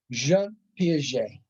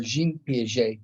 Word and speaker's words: Jean Piaget: The first of these is one of the foremost theorists, Jean Piaget, or Jean Piaget, depending on your pronunciation.